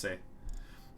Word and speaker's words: c'est: I know that, like, say is pronounced say, but the C apostrophe EST is pronounced say.